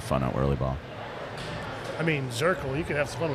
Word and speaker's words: Zirkel: I guess in German it's pronounced more like Cirkel. Oh, okay. I don't know how to say it, but it's not like a Z, it's more like a TS.